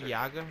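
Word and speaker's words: Jäger: It's pronounced Yaga, thank you very much.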